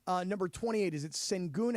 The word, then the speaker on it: Alperen Şengün: Is it Sengun? How do I pronounce the kid's name? Alperen Şengün.